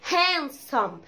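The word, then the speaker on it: handsome: ايوه انا سمعت صوت الدي برضو بيتقال، لا اسمها هانسم، هانسم، هانسم.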